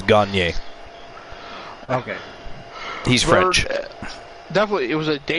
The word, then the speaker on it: Gagne: Gagne is a French name. Gagne actually means to win, but that's how you pronounce it, is Gagne.